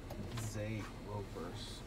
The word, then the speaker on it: Zeerovers: Babe, it's pronounced Zeerover, right? Zeerover. Oh, babe, how is it pronounced? Zeerovers. Zeerovers.